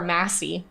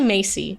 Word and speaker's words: Masey: So fun fact, a lot of people think my name is Macy or Massey. It's actually Macy. It's pronounced like the department store, but spelled extremely different.